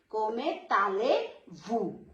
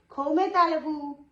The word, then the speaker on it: comment allez-vous: This is ale because Z is silent here. Cometale-vous. Vous means S is silent here. Vous means you. So how are you? Cometale-vous.